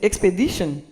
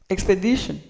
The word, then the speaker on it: expedition: Mais en anglais même là l'écrit comme ça, prononciation c'est expedition. On va prononcer expédition. Expedition. OK? Expedition.